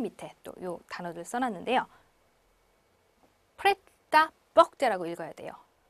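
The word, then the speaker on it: prêt-à-porter: 프레타 뻑제라고 읽어야 돼요.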